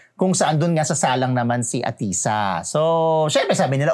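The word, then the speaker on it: Ahtisa: Kasi si Atisha ay ah atisa. Atisa hindi walang H. Ang H niya after aisa. Atisa yan parang atisa.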